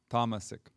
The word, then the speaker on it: tamasic: by the tamasiki people tamasik see in america we say tamasik but in when we just chanted you heard the sanskrit pronunciation which is tamasic anyhow i'll go with